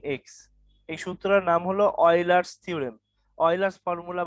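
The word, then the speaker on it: Euler: এই সূত্রের নাম হলো অয়লার্স থিওরেম, অয়লার্স ফর্মুলা বা অয়লার্স থিওরেম এইটা। অয়লার্স কিন্তু ইংলিশে উচ্চারণ কিন্তু ইউলার, ইউলার, কিন্তু ওদের লোকাল উচ্চারণ হলো অয়লার, OILER, অয়লার।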